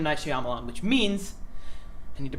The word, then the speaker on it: Shyamalan: It's Shyamalan, Ed. Shyamalan? Yeah. Wait. Shyamalan, yeah. Where's the Y? I don't know. Well, it's in there, but it's Shyamalan. It's not Shyamalan?